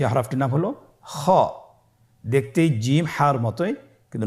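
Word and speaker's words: خاء: খ হরফটির মাখরাজ হলো কন্ঠনালীর শেষ ভাগ হতে উচ্চারণ করতে হয়।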